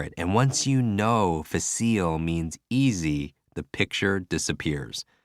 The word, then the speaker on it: facile: Facile. Facile means easy, which sounds like face eel.